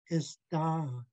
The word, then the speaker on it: ista: Next up is a single I pronounced as an I in pin. Our Haida word is ista, meaning take it.